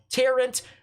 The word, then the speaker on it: Tarrant: It's pronounced Tarrant, not Torrent.